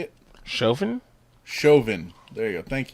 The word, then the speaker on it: Chauvin: Chauvin?